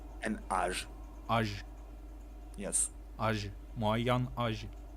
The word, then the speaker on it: moyen âge: âge, moyen âge. And when you know you need to connect the words, it's spelled moyenne. Moyen, Okay, good. Âge. Moyen âge. moyen âge. Yeah, that's It's fine. almost like mayonnaise.